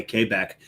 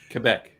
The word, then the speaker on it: Quebec: I pronounced it the French way. Quebec. Quebec.